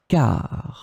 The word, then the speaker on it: car: In this lesson, we will see together two words that are written differently but pronounced the same way. Car, car.